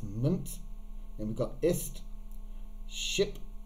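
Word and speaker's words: -ment: the suffixes down here meant he said not pronounced meant it's mint and we've got ist ship it's a very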